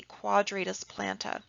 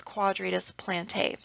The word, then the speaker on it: quadratus plantae: separate muscle this is the quadratus planta okay or pronounce quadratus plantae okay so quadratus plantae or quadratus planta okay also seen here